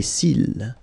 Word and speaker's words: cils: Final S not pronounced. Les cils.